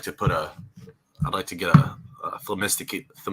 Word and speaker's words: Themistocles: I'd like to get a Themistocles. I don't even know if I can pronounce his name. Themistocles, or the main second I'm one. probably not even pronouncing it right. Themistocles. Themistocles. That's it.